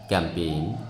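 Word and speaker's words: campaign: আমরা উচ্চারণ করি সাইন ক্যাম্পেইন রেন ইত্যাদি এই জিনিসটা গুরুত্বপূর্ণ আমরা জানি না কখন জের উচ্চারণ হয় না আমি আবার বলছি শব্দের মাঝে জি আই এন অথবা জি এন যদি একত্রে আসে ঠিক আছে তাহলে এদই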